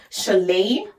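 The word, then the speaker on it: Šiauliai: other city that you should definitely visit is Chalet how it is written is not how it's pronounced but I will put the names on the screen so that you'll be able to go Chalet is very beautiful too I'm obsessed with smaller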